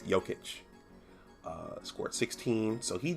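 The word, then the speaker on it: Jokić: the the range um nikola yochich yoketch i keep mispronouncing that um it's jokic uh scored 16.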